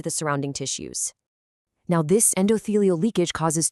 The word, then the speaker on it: endothelial: Pronounced endothelial. Endothelial.